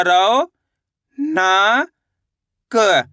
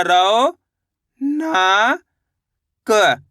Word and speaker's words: रौनक: देखिए रऊ की मात्रा रौ न क तो मिलकर बन जाएगा रौनक कैसे पढ़ेंगे रौनक कैसे पढ़ेंगे रौनक ऐसे नहीं पढ़ेंगे रौनक रौनक औ करके उच्चारण निकालेंगे।